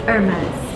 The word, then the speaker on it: Hermès: It's a French brand, so you don't pronounce the H. It's Hermès. Yeah. Hermès. So the correct way to pronounce it, I was wrong. You actually pronounce the last S.